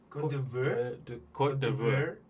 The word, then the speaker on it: Côte d'Ivoire: How do you pronounce that name again? Côte d'Ivoire.